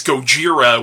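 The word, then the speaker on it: ゴジラ: Godzilla also known as Gojira which is the Japanese pronunciation of the title Sheryl Honda's magnum opus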